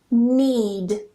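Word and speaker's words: knead: Knack, knee, need. And yes, this is pronounced the same as need.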